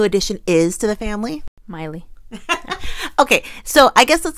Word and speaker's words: Myle: the screen that um we kept calling the baby baby mile because that's the way it's looks phonetic mile mle but the name is actually pronounced Miley yeah so we apologize